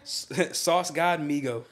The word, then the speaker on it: Sauce God Migo: Sauce God Migo. Spell that out.